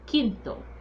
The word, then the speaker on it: quinto: The Q in Spanish sounds like a K. So it's quinto. Quinto, not quinto, but quinto.